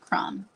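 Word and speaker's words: Krum: a little tiny town called crumb don't ask me how to spell it it's not spelled like the cookie it's KR u m okay y'all this is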